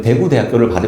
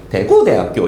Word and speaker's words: 대구대학교: 이렇게 했을 때 북도는 강세 억양이 대구에 있어요. 구. 그래서 대구대학교 이렇게 제가 따라하지를 못하겠는데 대구대학교 이렇게 발음하는데 대구대학교 이렇게. 그리고 그 남쪽에 그 부산, 특히 부산은 맨 앞에 강세가 있다는 거예요.